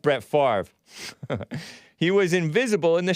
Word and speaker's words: Favre: know it's spelled favory favorite farver but it's pronounced brett favre he was invisible in the shadow the dude